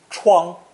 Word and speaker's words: 疮: Originally pronounced first tone, 疮, 疮, meaning a knife injury or a